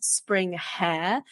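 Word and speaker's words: springhaas: an animal called the spring ha and a lot of people don't know what a spring ha is so they actually spelled spring hair but spring ha is the pronunciation and they look like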